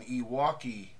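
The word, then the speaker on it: EWAWKI: Then you set up what's called an Iwaki play.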